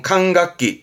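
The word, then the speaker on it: 管楽器: 발음은 칸각기, 칸각기.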